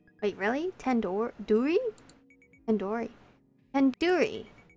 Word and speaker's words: tandoori: Surely you at least recognize tandoori chicken. You're saying it wrong. Wait, really? Tandoori? Tandoori. Tandoori. The do isn't like door, it's like doo-doo head.